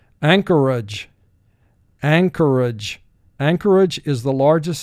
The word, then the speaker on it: Anchorage: will represent the sound anchorage anchorage anchorage is the largest city in the state of alaska ang core age three syllables first syllable ang two